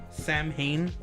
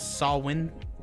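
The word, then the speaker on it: Samhain: it wasn't so see it looks like um Sam H but it's sawin pronunciation a pagan religious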